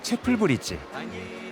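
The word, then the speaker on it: Chapel Bridge: 루체른의 상징 카펠교의 영어식 발음은 체플브리지. 문자 그대로 예배당 다리라는 뜻으로 근처 성 베드로 예배당의 이름을 땄다고 한다.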